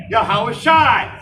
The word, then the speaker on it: Yahawashi: of all nations for the correct pronunciation of the name of the most high which is Yahawah Bahashim and the name Yahawashi his only begotten son Bahashim Yahawashi. So Yahawah, Bahashim, Yahawashi, those are the names everybody hates to hear